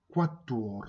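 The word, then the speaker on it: quatre: ラテン語、クワットワール、クワットワールって読むんですよね。4 のことですね。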